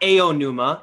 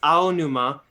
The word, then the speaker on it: Aonuma: It's not Aonuma. It's It's Aonuma. Ken Watanabe. Every A is pronounced exactly the same, no matter where it is in the sentence.